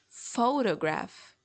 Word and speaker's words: photograph: Because the strongest syllable of it is pho. So it's photograph, photograph. It's not like photograph or photograph, but photograph, photograph.